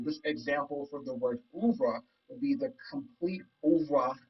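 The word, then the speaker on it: oeuvre: pronounced again i've been really working on my pronunciation with new words and ubra means the works of a painter composer or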